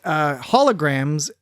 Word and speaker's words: holograms: Now, the thing is that holograms has 3 syllables in the bulk of typically, in the bulk of English-speaking nations. Hologram. It is a 3-syllable word.